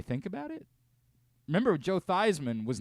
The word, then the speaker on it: Theismann: go ahead and be Joe Heisman Theisman because it rhymes with Heisman and maybe improves your